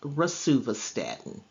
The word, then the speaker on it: rosuvastatin: It is pronounced rosuvastatin.